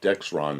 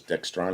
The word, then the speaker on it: Dexron: movie Tron it's pronounced Dexron that's what I thought it's Dex Ron and I thought for a while it was dextron because so many people